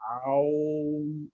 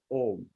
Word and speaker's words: Om: The sound has to be pronounced only as opening the mouth and closing the mouth, Om.